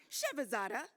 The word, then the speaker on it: Shevazada: that his wife says the way to pronounce their last name is like enchilada. I will never forget that now. So Kayvon Shevazada, the Dean of College of Engineering and Computer Science.